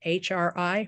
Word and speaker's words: Hri: After the recitation of Om Amitabha Hri, we then recite the short mantra of Amitabha, or the seed syllable mantra of Amitabha, which is Hri, H-R-I, Hri.